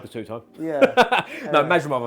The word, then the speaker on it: Madrimov: No, Madrimov, I think, is the way you'd say it.